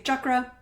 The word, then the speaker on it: chakra: um I excuse me I say chakra because that's how it is uh that's how I was taught in my Hinduism class in my master's program and that is the proper way to say it so if you hear me say chakra you know why so in uh Hinduism in